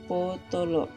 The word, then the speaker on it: potolo: Kemudian kita lihat tulisannya pa tanda baca o, ta tanda baca o, la tanda baca o, sehingga bacanya potolo.